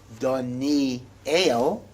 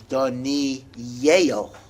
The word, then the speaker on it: Daniel: the yud so the actual name is not donee el it is donnie yale right that's what that's what this area is